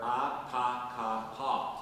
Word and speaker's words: Atakapa: she remembered her father teaching her to say, "We were Atakapa." To to pronounce those four syllables of the name of the native people.